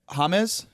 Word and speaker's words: James: They call they probably just pronounce the J like an H.